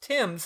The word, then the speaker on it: Thames: Tims or tames or themes or however we're going to pronounce it um it spells the same R same way as the River in England which they pronounced Tims and I refuse to